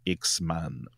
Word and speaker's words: X-Man: X-Men, je l'entends mais c'est parce que je sais que tu prononces le A parce que c'est X-Man au c'est X-Man au singulier. Pas men man.